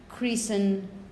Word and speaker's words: christen: You don't pronounce the T in the middle. When you have a baby and you want the baby to become part of a church, you christen the baby, or there's the christening.